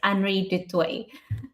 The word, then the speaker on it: Anri du Toit: just by the way my name is pronounced perfectly it's anry Dy so well done oh